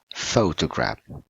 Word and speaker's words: photograph: For example, the first word here, we say it correctly with a word with the correct stress word, it will be photograph. Photograph, right? Not photograph, not photograph, but photograph.